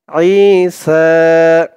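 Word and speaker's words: عِيسَىٰ: ইন্না মাসালা, মাসালা, ইন্না মাসালা ঈসা। আই একালিফ টান, জেরের পরে ইয়া সাকিন, আই আই। আর আইনের আওয়াজটা গলার ভেতর থেকে শক্ত করে আনতে হবে। আই সা, সা একালিফ টান, খারা জবর। ইন্না মাসালা ঈসা ইনদাল্লাহি।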